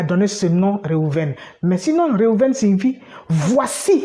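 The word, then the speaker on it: ראובן: Et c'est ainsi que le premier enfant qu'elle va concevoir s'appelle Réhouven. Bon, en français, on dit Ruben.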